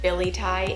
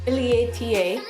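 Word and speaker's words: billietiae: the variegated version I know that the variegated Billy tie is actually I should pronounce it properly it's the Billy ata I learned that recently so that plant is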